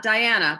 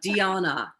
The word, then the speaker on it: Diana: is diana not diana but dionna i appreciate that yes i'm originally from romania so this is how you pronounce spelling like diana but